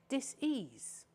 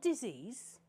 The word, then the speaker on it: dis-ease: in our bodies because we create dis-ease not disease the word should be pronounced disease because when the body starts to show various different symptoms it is in a state of dis-ease so you've also heard